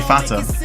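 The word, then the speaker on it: Vater: Vat is pronounced like F. So, it's actually fatter.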